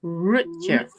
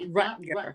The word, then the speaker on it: Rutger: Rutger Hauer pronounced his name Rutger. It's Germanic, I believe, for Richard or Roger. So it's Rutger Hauer. It's not Rutger, but I think, like